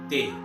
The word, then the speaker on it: de: to say i am from is joe soy dey not d but the e in spanish is pronounced as d in english okay so to say i am from is joe soy dey repeat it after me joe soy day so